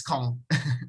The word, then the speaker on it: Caen: It's just one syllable, it's CAEN.